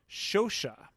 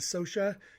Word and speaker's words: Scioscia: i would say that this name should be pronounced shosha who knows when it got americanized to social taking out the first sound for me you